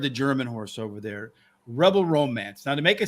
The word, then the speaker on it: Rebel Romance: But, in order to say it, you got to say it like a German. Rebel Romance.